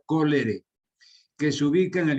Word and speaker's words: cholerae: Cholerae se escribe y se pronuncia cólere, que se ubica en el intestino del paciente.